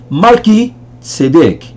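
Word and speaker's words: מלכי צדק: Então, Malki Tzedek. Mais uma vez devagar. Malki Tzedek. Malki Tzedek. Que é mudo.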